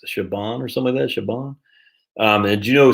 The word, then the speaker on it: Siobhan: did you know uh but s-i-o-b-h-a-n is not pronounced like it's looks siobhan or some of that shiban um and do you know c-i-a-r-a isn't sierra